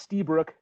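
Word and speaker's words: Lstiburek: list burek's perfect wall yeah so um it's pronounced ste brook rachel for uh the undocumented thank you um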